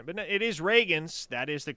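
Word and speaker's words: Ragins: I noticed that during the teleconference today, it's not a big deal, I just kind of noticed it, Brent said Raggins, Zion Raggins.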